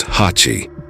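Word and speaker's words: 八: He notices the number 8 on the collar, which in Japanese is pronounced Hachi.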